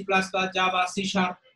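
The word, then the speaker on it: C#: Microsoft company তৈরিকৃত visual basic visual programming উদাহরণ, যেমন visual সি plus plus, Java, সি sharp, এখানে সি হ্যাট যেটা সেটা সি শার্প উচ্চারণ করা হয়, সি শার্প, এগুলো হচ্ছে আমাদের বিভিন্ন ভিজুয়াল প্রোগ্রামিং এর উদাহরণ।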